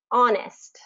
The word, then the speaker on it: honest: sound in it but here is a list of the most frequently used words that don't have the H pronunciation so this would be like honest Allelujah Heir honor um herbal hour spaghetti okay so there's no h pronunciation there and then it gets